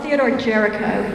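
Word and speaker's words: Théodore Géricault: the name of the artist because I can't pronounce oh Theodore Jericho yes thank you also it uh influenced Mary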